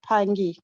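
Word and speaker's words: Phangi: hello scott yes yes my name is pronounced pangi so i want to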